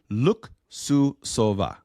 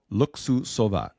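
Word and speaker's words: Luksusowa: to pronounce this right look sua look sua it's spelled l u k s u s o w a it is such a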